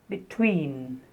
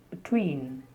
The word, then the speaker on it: between: Very often they speak between, between. So the first syllable is almost like the schwa sound, b, between. That's because the stress, the main stress is on the second syllable, tween.